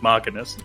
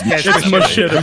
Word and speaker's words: machinima: with me knowing that I pronounce it Machinist. Machinist. I mean, so is it Machinima now? Is that what's going on? I mean, I'm pretty sure isn't it Machinima technically? Yeah, it's Machinima. Machinima.